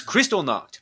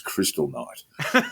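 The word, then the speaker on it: Kristallnacht: crosshairs it's Crystal knocked I'm telling you right now which slowly as you continue to mispronounce it becomes Crystal night um well look we've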